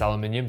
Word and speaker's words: aluminium: single piece of aluminium yes aluminium that's how you say it and it's definitely the